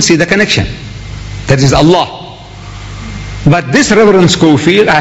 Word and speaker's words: Allah: right if it's a l a h is Allah you say look say Allah my language my language I want you to pronounce as I want you to pronounce you